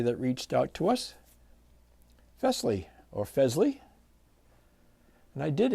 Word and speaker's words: Fesley: reached out to us fley or fley and I did ask the company how they pronounce their name and he said it sounds like Elvis Presley or Presley so I'm going with